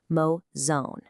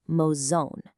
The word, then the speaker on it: mozão: focus heavily on nailing this slightly tricky pronunciation, mozão. Notice that little tilde over the A. That indicates a nasal sound, almost like you're speaking the end of the word through your nose, mozão.